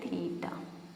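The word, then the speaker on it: theta: थीटा इस तरीके से कुछ बनता है और इसको प्रोनाउंस करते हैं थीटा.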